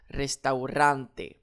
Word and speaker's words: restaurante: Ici, j'ai une voyelle qui termine mon mot. Alors, j'accentue sur mon avant-dernière syllabe restaurante.